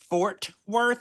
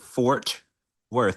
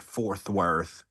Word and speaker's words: Fort Worth: Fort Worth. I wonder how many people have also called it Fourth Worth, like me, Mhm. because honestly, I never True. I was saying it wrong.